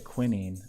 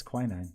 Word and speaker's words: quinine: I used to say quinine, but I think it's quinine. Let's see.